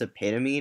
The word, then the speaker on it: epitome: I mean, it's not grammar, but I always feel like a jerk when I tell people it's epitome, not epitome.